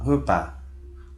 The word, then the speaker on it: repas: Na palavra repas, novamente, esse S não se pronuncia.